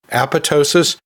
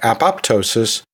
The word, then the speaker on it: apoptosis: pronunciations, and that is apoptosis, where the second P is silent, or apoptosis, where both P's are pronounced.